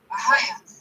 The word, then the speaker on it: Ahaya: That's how you say his name. Ahaya.